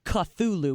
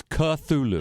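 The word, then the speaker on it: Cthulhu: that in involved the word cthulu which I mispronounce with a CH sound so I I apologize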